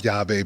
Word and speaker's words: Yave: So, but we gave the way you pronounce Yave means key in Spanish.